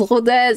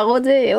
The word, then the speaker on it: Rodez: On prononce Rodez, pas Rodé.